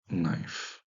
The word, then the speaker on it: knife: Kniv, kniv, knif, qui a donné knife, avec le changement de prononciation, hein. Le K, on le verra, va devenir muet à peu près vers le XVIIIe siècle.